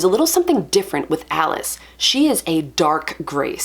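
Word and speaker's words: Alyce: I thought it was Elise, and I was like, yay! But I come to find out that it rhymes with malice, and you don't pronounce this Malice, although we should.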